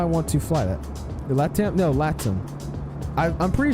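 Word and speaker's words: LATAM: I I'm pretty sure it's called latim like it has an accent to it but other people just say laam I've heard people say latim before so I think it's that's how you actually pronounce it to RDU yeah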